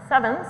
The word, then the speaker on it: CEvNS: So just starting with coherent elastic neutrino nucleus scattering, which I pronounce CEvNS, I'll make a comment on that in a second.